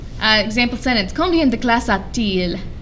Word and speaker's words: a-t-il: Combien de classes a-t-il? You can't say combien de classes a-il for whatever reason in French. So that T doesn't mean anything, it's just there for pronunciation.